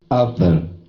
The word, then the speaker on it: other: Uh, so where's the word stress? Uh, The first. you tell me, other. Where do you think the Yeah. stress is? So the first syllable is not. Okay. Is not. Yes. Other, right? Oh. Whenever you hear this sound, that is unstressed. You know that the stress cannot be on that sound.